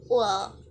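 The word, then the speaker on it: قل: Nah karena qaf diubah menjadi alif berarti dibacanya itu bukan qul tapi ul.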